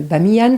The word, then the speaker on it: Bamiyan: De même qu'au Pakistan, vous êtes allé, vous le racontez, vous êtes allé sur le site de Bamiyan, c'est comme ça que ça se prononce, et vous faites le